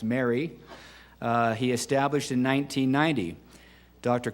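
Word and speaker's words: MARI: and financial institution quality the acronym m-a-r-i pronounced Mary he established in 1990.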